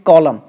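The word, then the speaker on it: column: नहीं पढ़ रहे हैं वो कौन सा सबसे लास्ट वाला एन तो हम लोग नहीं पढ़ रहे हैं तो यहां य पे ये एन ही जो है वो क्या हो जाएगा व साइलेंट हो जाएगा क्योंकि इसको हम लोग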